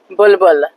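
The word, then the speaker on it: بلبل: Bulbul.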